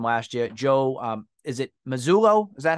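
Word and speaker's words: Mazzulla: So assistant coach who from last year, Joe, is it Mazzullo?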